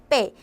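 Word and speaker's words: 倍: 배로 기억을 하시면 되고 배수의 배는 발음이 어떻게 된다? 빼.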